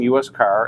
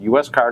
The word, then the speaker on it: USCAR: don't know the name us car and is pronounced us car not uscar and it stands for